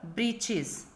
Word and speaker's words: breeches: Then the other word is here in the chapter breeches. Breeches here, that is short trousers. The writer here spells it for fun to rhyme with the word witches.